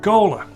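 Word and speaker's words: T'Cola: Cola. Thank you very much. It's actually called T apostrophe cola, but you don't pronounce the T.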